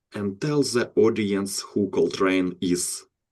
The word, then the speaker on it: Coltrane: Can you introduce yourself and tell the audience who Cold Train is?